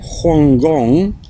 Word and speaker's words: Hong Kong: the early 20th century Hong Kong pronounced as Hong Gong in cantones then under British colonial control